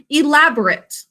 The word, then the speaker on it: elaborate: as an adjective and we pronounce it a little differently when we use it as an adjective it's the word elaborate like there were elaborate christmas